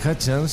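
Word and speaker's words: Hutchence: os enteris De nada Michael hat que es como se pronuncia su apellido fue el cantante de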